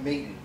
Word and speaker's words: Maton: The name of his guitar was originally Maton, which is now pronounced Maton.